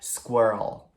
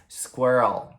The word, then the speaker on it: squirrel: que a gente pronuncia squirrel. Squirrel. Squirrel. Acho que a dificuldade principal aqui é você juntar o com o L, né? Então é squirrel, squirrel, squirrel.